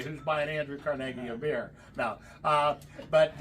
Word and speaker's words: Carnegie: most common questions we get here one is pronounce the name of the town it's carnegi carnegi not Carnegie uh as they say in some parts of